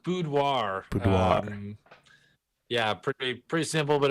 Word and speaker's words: boudoir: it's kind of weird because it's a French word that's right yeah pretty